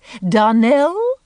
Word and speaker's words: Darnell: Darnell accent on last syllable and St.